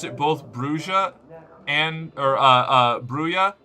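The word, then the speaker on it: Brujah: We got an official source on it that it's Brua. I don't know. I already got bullied about this once. I'm not doing it again. I've heard some NPCs pronounce it bruha.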